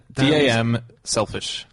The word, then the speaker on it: damselfish: D-A-M, selfish. One word. Oh, damselfish. Is that how you say it?